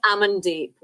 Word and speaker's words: Amandeep: I mean, I hope I pronounced your name right. It's Amandeep, but you're not the first person to ask me that, and you definitely won't be the last either, David.